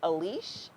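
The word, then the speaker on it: Aliche: her last name is a leash I might be mispronouncing it but her last name is spelled al I CH e her first name is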